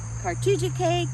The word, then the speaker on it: Cartoogechaye: the name of our campground it's on creek cartogia k creek yeah yep now the road that the